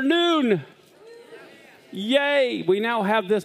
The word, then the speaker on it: Nun: And when I say, it can also be spelled noon like N-O-O-N, but it also, as you see in the Bible, it's spelled N-U-N. But it's not Joshua, the son of a nun. It's the son of noon.